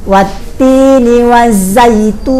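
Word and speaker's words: والتين والزيتون: Saya ulang berkali-kali dan bisa menyimak dengan baik watini wazaitun ya di rumah nanti setelah saya baca silahkan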